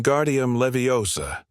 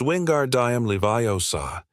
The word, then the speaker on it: Wingardium Leviosa: When guardium leviosa, he shouted, waving his long arms like a windmill. You're saying it wrong. Harry heard Hermione snap. It's Wingard Diam Leviosa. Make the gar nice and long.